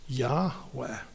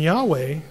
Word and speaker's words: Yahweh: am which in Hebrew when the first person speaker speaking is yeah when you refer to that person the pronunciation is Yahweh and Yahweh you know what it